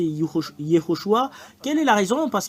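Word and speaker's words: יהושע: vous de voir mais la vraie prononciation du nom de Josué c'est Yehoshua quelle est la raison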